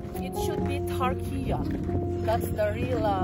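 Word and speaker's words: Türkiye: Ah sulat ng kanilang and take note we don't pronounce for to say Turkey. It should be Turkia.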